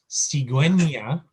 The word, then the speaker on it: cigüeña: So when it has the two dots over the top, you have to pronounce the U. Otherwise, don't bother, just leave it out. So ciguena and pinguino, we need to pronounce the U.